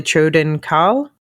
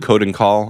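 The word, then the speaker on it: Choedan Kal: there's something called the Choden Kal. I've always said code and call. I think that's how they say it in the book too.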